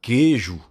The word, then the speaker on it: queijo: que não são pronunciados, como a palavra queijo, que se você escrever da forma que você pronuncia a palavra, você não coloca o U, porque você não pronuncia a palavra U no queijo.